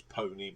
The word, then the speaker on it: peony: Opponent is pony, but it's spelled P-E-O-N-Y.